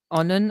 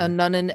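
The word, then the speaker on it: Annunen: Justus and Nunnen is what my pronunciation guide says.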